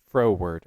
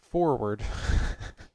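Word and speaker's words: froward: w a r d say that one more time frow word f r o w a r d not forward it means willful and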